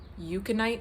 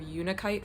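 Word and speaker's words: unakite: I got that right I realize I've been pronouncing the word yukonite instead of unikite for one of my crystals I wonder if up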